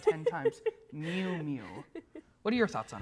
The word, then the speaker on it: Miu Miu: I had to look up that pronunciation 10 times. Miu Miu.